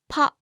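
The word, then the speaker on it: パ: Ha with the handakten is pronounced pa, ha, pa, ha, pa.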